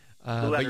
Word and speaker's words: Lueders: Lueders. Yeah. Well, just think of Lou like Lou.